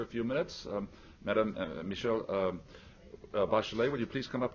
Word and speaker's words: Bachelet: And if those of you who are curious about the correct pronunciation, Michelle Bachelet prefers the French pronunciation because that's the way her father pronounced it.